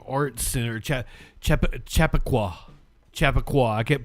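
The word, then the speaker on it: Chappaqua: is what the live shot outside of the Chapquitic Performing Arts Center. Chap Chap Chapaqua. Chapaqua. I kept pronouncing it wrong yesterday.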